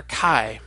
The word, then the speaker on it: chi: sounded as in backhand nowadays when we're pronouncing a chi as English speakers we sometimes have a hard time distinguishing between an aspirated an unaspirated K sound so sometimes you'll hear people pronounce a chi as though it's just a regular K as in kick the other way that you can pronounce chi is the way the modern Greeks do it which is sort of as a German CH sound and to do that